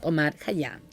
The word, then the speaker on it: Omar Khayyam: Es uno de mis amados poetas, Omar Khayyam. Bueno. Lo van a ver escrito seguramente con K y H, pero se pronuncia como una J con una K adelante.